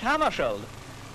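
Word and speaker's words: Hammarskjöld: his name correctly well I pronounce it myself in Swedish hammeri but if you say hammeri that's all right with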